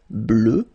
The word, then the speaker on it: bleue: Phonetically it doesn't exist because you don't pronounce it, so you get bleu as you would get for the masculine form, okay?